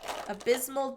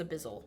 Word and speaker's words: Abyssal: Abysmal Depths. I can never say it right. Abyssal Depths. Yeah, I think it's Abyssal.